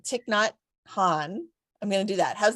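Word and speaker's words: Thich Nhat Hanh: I don't know how to say his name tick not Han I'm gonna do that how's that was that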